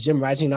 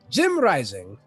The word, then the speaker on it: JimRising: representing Mexico it is Jim rising or I don't even know how to say it again Spanish and that's fine you know him rising he's turning the J into an H there you go that's